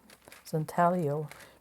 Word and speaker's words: intaglio: now pronunciation of intaglio I think you don't pronounce the G zintalio because there's probably Italian